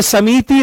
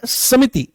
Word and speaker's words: समिति: है समिति ठीक है ये समिति नहीं होता है। इसका उच्चारण देखो। दोनों ह्रस्व ई लगे हुए हैं। ह्रस्व स्वर हैं। और ह्रस्व स्वरों के उच्चारण में एक मात्रा का समय लगता है।